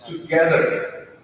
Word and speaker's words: together: So here in this word, the second part is stressed. It's together. That's how you pronounce all English words. One part of the word will be stressed or pronounced with emphasis. So it's together. In case of the second word, here it's connect.